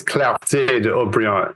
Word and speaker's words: Clarté de Haut-Brion: So to me, I felt like, look, I just want to correct my pronunciation. It is Clarté de Haut-Brion. It does have an accent aigu over it.